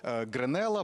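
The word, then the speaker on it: Гренелла: прямому ефірі дізналися що гренела правильно так ставити наголос розглядають як одного з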